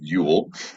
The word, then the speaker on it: Yule: It's spelled Juul, like our favorite electronic cigarettes, but pronounced Yule.